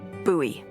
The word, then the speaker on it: Bowie: It's actually pronounced Bowie. What? No, it's like the last name, like David Bowie.